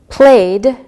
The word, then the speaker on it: played: Played, played with the D sound.